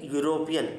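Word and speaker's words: European: के साउंड आती है यूरोपियन इस वर्ड को प्रोनाउंस करेंगे यूरोपियन यस किसके साउंड ए रही है कंसोनेंट की तो क्या आएगा यहां पे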